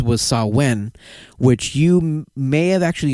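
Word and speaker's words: Samhain: know you know and it looks like it says Sam Hayne it's spelled s m ha a i n but in the Celtic or the GIC language it's saen uh it was just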